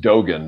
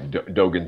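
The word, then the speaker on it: Dōgen: he brought that soto soto and i here pronounced dogen by the way dogen zinji yeah actually it's a chinese it's taoien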